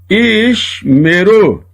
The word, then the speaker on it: Ishmeru: O primeiro é mudo, o segundo pronunciado. Ishmeru.